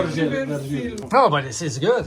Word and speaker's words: Jorge Vercillo: I mention, of course, that first of all came Jorge Versilio. Jorge Versilo. Jorge Versilio. No, but this is good. It's from Finland, man. You're pronunciating like this, Yeah.